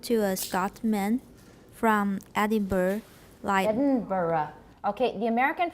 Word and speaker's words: Edinburgh: middle right will sound to a Scotsman from Edinburgh lion Barra okay the American pronunciation is Edinburgh because we don't know how to say it right but the Scottish or the the UK pronunciation is Edinburgh Edinburgh Joe a - why at the end